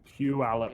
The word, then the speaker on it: Puyallup: Puyallup or what? How am I supposed to pronounce that shit? Well, Puyallup. Puyallup. Puyallup. Pew. Say like pew, like pu, like pew. Pew. Like church pew.